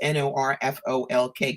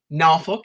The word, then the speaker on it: Norfolk: you can tell because I pronounced n o r f o l k correctly nuk is how they say it down there not Norfolk so I would say